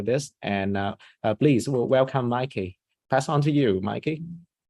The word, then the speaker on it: Maaike: what people ask me like how do I pronounce your name um this is a Mikey that is the easiest to remember I would